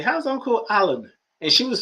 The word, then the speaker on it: Alan: said something he said no it's not allen it's alan a-l-a-n i said what now